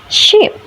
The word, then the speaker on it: sheep: The example is ship versus sheep. The error occurs because Indonesian speakers tend to use a single e sound. In English, i is relaxed or shorter, while e is tense or longer.